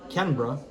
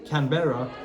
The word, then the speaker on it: Canberra: The capital city being Canberra, or Canberra, if you would not know how to pronounce it, Yeah. or Canberra if you're Australian, which is located around here, in the middle of Melbourne and Sydney.